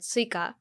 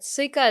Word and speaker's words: Suica: And then I guess I didn't realize that I was pronouncing it wrong. Yeah. The intonation was wrong. But Suica is the name of the card, but Suica is watermelon.